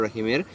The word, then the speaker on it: রহিম: তেমনি শুদ্ধ উচ্চারণ হচ্ছে বিসমিল্লাহির রহমানির রহিমের শুদ্ধ উচ্চারণ হচ্ছে বিসমিল্লাহির রহমানির রহিম। বিসমিল্লাহির রহমানির রাহিম হবে না, এটা হচ্ছে অশুদ্ধ উচ্চারণ। রয়ে আকার হবে না, র পোর হবে।